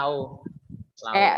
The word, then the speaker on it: Laos: Laos. Bacanya Lau.